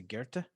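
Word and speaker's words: Goethe: uh on how does he pronounce it he pronounced guerta i think i think so uh g-o-e-t-h-e um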